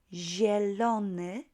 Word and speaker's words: zielony: Zielony, zielona, zielone. That's green. 3 versions. Again, zie, not zie, but zie, zie, very soft, right? It's kind of one syllable there.